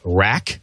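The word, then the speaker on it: RAQ: The Rack, the R-A-Q, isn't that cute?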